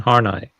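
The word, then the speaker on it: Horney: She goes into that stuff more without the we Karen Hornai. Yeah. K E K A R E N and space H O R N E Y. But it's not pronounced. It's pronounced Hornai or something like that.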